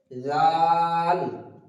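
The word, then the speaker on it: ذال: আবার দাল তারপর আসছে জাল জাল এটা হালকা একটা তুতলা হবে জাল একদম যেন চয়ে আকার ল জাল এরকম জাল যেন না হয়ে যায় এটা একটা তুতলা ভাবে হবে জাল তারপর আসছে র এটা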